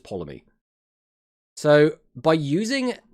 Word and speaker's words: Ptolemy: The T's just silent, right? It's just Ptolemy.